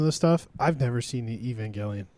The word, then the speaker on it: Evangelion: Um is Hideeco Ano uh the founder of Neon Genesis Evangeline. Nice. Another big anime Evangeline. Maybe I'm saying it wrong. I will receive death threats. Evangelion.